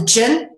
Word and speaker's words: jinn: And then, of course, we got the jinn, which is initially spelled with a DJ, giving us the j sound, represented as the resting cobra in Egyptian hieroglyphics.